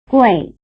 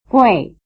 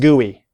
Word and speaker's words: gui: Fei, wei, gui. Again, they rhyme. Fei, wei, gui. Alright, so it wasn't pronounced gooey.